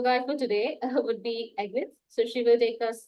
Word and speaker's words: Agnethe: My name is, the Danish version of it is Agnethe. That might confuse you with the way it's spelled.